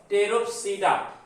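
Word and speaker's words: Pteropsida: सब phylum, उपसंघ टेरोप्सिडा। इसमें P silent है, तो उपसंघ बच्चों टेरोप्सिडा।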